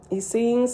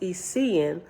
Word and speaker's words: Essenes: On page 640, Essenes says, when this word is used in heaven, it is usually pronounced Essean, but when on earth, Essene.